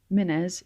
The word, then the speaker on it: Mynnes: I should also say at this point, Mynnes is spelt with two N's together, and both of them should be pronounced.